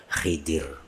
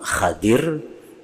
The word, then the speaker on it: Khidir: makanya digelar dengan gelar Khidir jadi membacanya ada dua cara yang pertama hadir nabi hadir atau Nabi Khidir kata Nabi Khidir atau